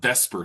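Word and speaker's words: VSEPR: So, we're talking about Vesper theory and yeah, it is V S P R, but it's pronounced V S Per.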